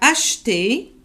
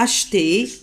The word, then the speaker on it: acheté: Ali a acheté. Ça se lit acheter, mais le E, on a tendance à l'aspirer.